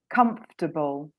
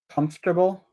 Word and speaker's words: comfortable: um bad joke um so I've got a disappearing syllable the o r is cut so I'm come and then so then the or even it's just like you keep chopping out all of the syllables yeah so can you